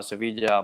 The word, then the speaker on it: Sevilla: But Richard knows in the south, Cordoba, Sevilla, Malaga, and all these places. This is the Spanish pronunciation, by the way.